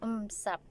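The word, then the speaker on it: 五十: Pero ang pronunciation po nun is it's the same lang po. Ganun parang M. So, umsap.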